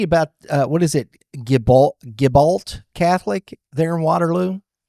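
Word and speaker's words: Gibault: Gibol Gibbalt Catholic there in Wateroo. Yeah, Jabau. Jabi Catholic, I I think is technically how you pronounce it.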